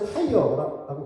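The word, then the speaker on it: Tyre: 아 저는이 드로라는 한 성 이게 드로라고 이렇게 번역이 돼 가지고 드로인 줄 알았더니 영어로는 우리 자동차 타이어라고 같은 발음이라고 합니다.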